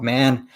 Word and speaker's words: Mahon: now by our guest this week it's rob mann from the prince albert raiders rob thanks so